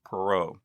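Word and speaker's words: Poirot: o t but it's she told me it's pronounced perau uh we are very grateful here at Remnant stew to miss perau for granting us permission to quote directly from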